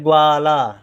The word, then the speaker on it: ग्वाला: फिर है ग्वाला। ध्यान दें, ग्वा आधा गा का उच्चारण कम देर के लिए हो रहा है तो आधा गा। वा का देर तक हो रहा है तो ग्वाला, ला का भी देर तक हो रहा है, ला, ग्वाला।